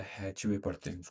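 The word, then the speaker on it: Hathaway: मुझे आश्चर्य है कि हम इसे हैथवे कहते हैं या हैचवे। इसका उच्चारण हैथवे है।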